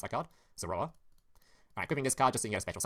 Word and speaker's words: Zoroa: summon the Zora, or Zora, how do you pronounce that card? Zoroa.